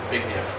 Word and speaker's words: Zbigniew: Zbigniew.